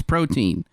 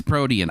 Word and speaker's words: protein: On this one, you can say it in fact both ways. In the US, it's protein. In Europe, it's protium.